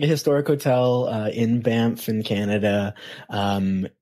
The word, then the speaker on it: Banff: it's spelled b n FF but like it's pronounced bamp yeah I don't know I see how that would get stuck in the tongue whatever it's uh so it's like it's like a Historic Hotel uh in bamp in Canada um it's is like over 12